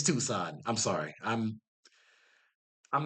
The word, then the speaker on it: Tucson: Campbell Avenue in the Catalina Foothills north of Tuscan. Tucson, Tusk. My brain is not working right now. I'm sorry. I'm sorry. You have Tuskanyany. You have Tucson. It's Tucson.